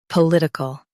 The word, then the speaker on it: political: Stress lit and keep ickle soft.